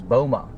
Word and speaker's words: BOMA: B O M A. So you pronounce that as Bulma, building owners and managers association.